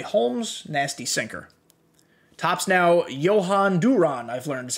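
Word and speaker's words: Jhoan Durán: uh henchmen clay holmes nasty sinker tops now johann duran i've learned is how you say his name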